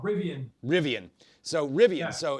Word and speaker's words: Rivian: talk about too, but Rivian, is that how you pronounce that? It's called Rivian.